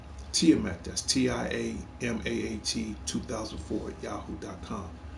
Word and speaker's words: Tiamaat: It is pronounced Tiamat.